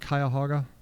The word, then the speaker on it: Cuyahoga: Cleveland resides, you guys ever see that word Cuyahoga? That's how you pronounce that.